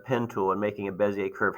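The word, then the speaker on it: Bézier: handouts drawing a bezier that's pronounced that's not bazir that's it's uh French or Belgium so it's a bezier curve so it's very fancy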